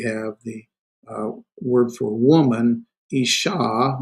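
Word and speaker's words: אשה: And here we have the word for woman, isha. Notice the doggish forte, ish sha. So it's like there's another uh, shin there.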